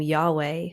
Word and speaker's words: Yahweh: Hebrew word for God when you say yahwe and pronounce it how it's properly pronounced it actually mimics a breath so when you're saying the the name of God Yahweh you're actually mimicking a breath so I I kind